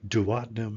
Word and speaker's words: duodenum: Duodenum is sometimes pronounced duodenum, depending upon who you listen to. So I've heard it both ways.